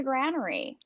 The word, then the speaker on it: Granary: He's actually in the Granary, right? Oh, okay. And it's pronounced Granary. I've always seen it online and been going Granary.